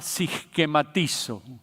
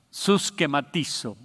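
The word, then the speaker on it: συσχηματίζω: Y de estas 3 palabras que le quiero hablar, la primera de ellas es una palabra griega que podríamos pronunciarla siskematizo, suskematizo o siskematizo.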